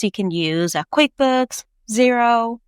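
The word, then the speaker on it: Xero: So, some tools you can use are QuickBooks, Zero, which is spelled X E O, wave, Freshbooks.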